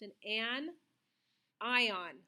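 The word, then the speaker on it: anion: first one is pronounced an an ion so think of it with a hyphen between the n and the I so an an ion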